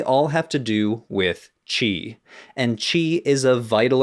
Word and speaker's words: qi: an esoteric energy called qi. Though as a game developed by a Japanese company, they technically call it ki, using the Japanese pronunciation of the word.